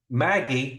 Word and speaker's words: MAGI: I just added uh Maggie or around Christmas time I pronounced this Magi right but M AI modified adjusted gross income